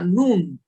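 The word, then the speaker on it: נון: Y se translitera con una N, común y corriente, no tiene ningún misterio, y se pronuncia como una N también.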